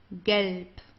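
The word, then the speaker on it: gelb: from the throat green GP okay GP so here the B at the end it's pronounced more like a p okay GP GP orang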